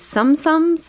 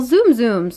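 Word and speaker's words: Tsum Tsum: And these little Zoom Zooms. No, I said it wrong again. Sum Sums.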